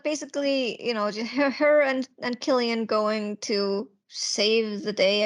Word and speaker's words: Cillian: Yeah, it's Killian with the hard C.